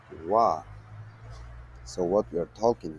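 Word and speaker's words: は: it is pronounced as wa. So what we are talking here, when the ha is used to mark the topic of the sentence, it is pronounced as wa.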